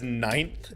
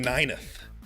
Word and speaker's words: ninth: Like, have you ever seen how ninth is spelt? That word is gross. And he keeps saying nineth.